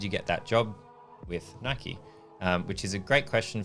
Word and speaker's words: Nike: I say Nike, but Americans say Nike. Right. But it is Nike. Like officially it is Nike because it was the god of something, Greek god or something.